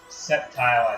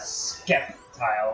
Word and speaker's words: Sceptile: And number 2, probably worst Pokemon pronunciation was Sceptile as Skeptile with like a K.